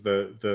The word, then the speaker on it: Thi: But Chris, I need to jump in and correct you. It's pronounced T, please.